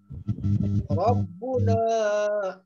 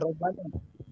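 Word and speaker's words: رَبُّنَا: Musa jawab, Rabbuna. Di situ mubtada, jangan robbana. Ya, jangan robbana bacanya. Rabbuna (2).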